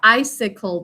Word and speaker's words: icicle: i sickle three syllables in the first syllable i says its name in an open syllable sound out the next syllable with me i sickle two sounds says the second sound in that one and final syllable i said cole silent finally job four okay because all english syllables need to have a written vowel icicle please pick up